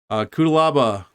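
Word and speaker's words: Cuțelaba: Kutalaba. Like I'm saying, like, I'll just pronounce it how I want. I like it this way. No, I think that's how it is. Kutalaba.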